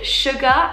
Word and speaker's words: Svgar: to my new business it is called sugar and it's spelled s-v-g-a-r so the v stands for vegan because all of the